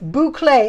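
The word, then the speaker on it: bouclé: it out phonetically okay boucle i got to remember that b-o-o-c-l-a-y right that's not how you really spell it but that's how you pronounce it so correct so boucle um it is fabulous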